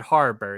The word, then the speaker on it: Harbour: David Harbour. Is that how you pronounce his last name?